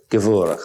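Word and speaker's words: Gevurah: I don't know if I know how to pronounce them exactly. Hesed? Chesed. And the other one, Gebura? Gevura. Chesed and Gevura.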